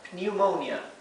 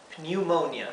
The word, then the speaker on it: pneumonia: para neumonía pneumonia pneumonia sí empieza con p y esta combinación de letras esta combinación de vocales se pronuncia y Y si pneumonia la o como está seguida de una n y una vocal como siempre es el sonido largo de la O ou ou no es o es ou el sonido